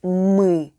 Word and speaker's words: мы: We'll need our regular sound m with directly following. Pro tip: you'll want to drag the sound out a little. Now, put the 2 sounds together and we have the perfect мы, which is we in Russian.